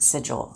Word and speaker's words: Sigil: Now, I do pronounce this word Sigil, so let's just get that out of the way.